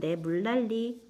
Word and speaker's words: 물난리: 우리 교과서에 있었던 예시 물난리 리과 니은이 서로 만나면서 유아가 일어났지요 자 이렇게 하나하나 분석을